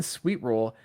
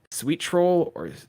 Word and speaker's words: Sweetroll: It's spelled Sweetroll, but there's no space. So I don't know if they're saying sweet troll Oh or yeah, it's sweet roll.